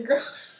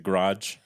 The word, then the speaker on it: garage: You put your car In the garage. in the where? The garage. I say garage. You're saying garage. You're Yes. saying one syllable. Yeah. One syllable. Garage is not. It's two syllables.